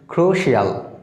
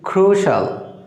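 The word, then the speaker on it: crucial: বন্ধুরা আমরা এটা সাধারণত উচ্চারণ করে থাকি ক্রুশিয়াল, বাছি চলবি ক্রুশাল, ক্রুশাল। খেয়াল করো এখানে যে ইউ রয়েছে ইউ এর জন্য এখানে লং ভাওয়েল সাউন্ড উ হয়েছে, আর এখানে আই এই এর জন্য অ সাউন্ড হয়েছে। তাহলে আমরা এটা প্রনাউন্স করব ক্রুশাল।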